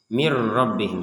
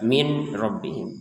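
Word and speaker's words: مِن رَّبِّهِمْ: Mirrobbihim. Jadi langsung ke sini. Mirbihim. Hudam mirbihim. seperti itu. Jadi jangan dibaca jelas min rbihim tapi dimasukkan mirbihim.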